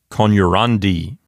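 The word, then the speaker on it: coniurandi: It will not go back to the antepenult. So this word will sound like conurandi.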